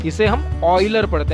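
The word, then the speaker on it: Euler: मैं इसे miss pronounce नहीं कर रहा, एक्चुअल में इसका नाम ऑयलर ही है, ले क्योंकि ये जर्मन बंदा है और इसका जो स्पेलिंग है वो इंग्लिश में कुछ ऐसा आता है, ठीक है, तो हम इसे यूलर पढ़ लेते हैं, लेकिन एक्चुअली इसके नाम का प्रोनाउंसिएशन ऑयलर है।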